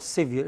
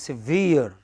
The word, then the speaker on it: severe: Most words ending in EE, EER, ERE, you know, SEVERE. How do you pronounce it? It is not severe, it is severe.